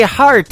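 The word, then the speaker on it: Harte: That is the latest single from my good friend Robbie Hart.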